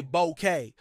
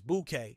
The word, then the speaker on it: bouquet: food let's look at the word buou many Americans say bouqu but the correct pronunciation is bouquet as in both the flower arangement and the